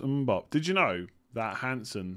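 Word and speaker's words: Mbeumo: It's pronounced Mbop.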